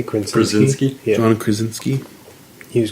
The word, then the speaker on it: Krasinski: Krasinski?